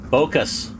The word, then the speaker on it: Bocus: And then I see I got to look back at my chat here to remember how to pronounce Corlin's name. So, it is uh Bocus.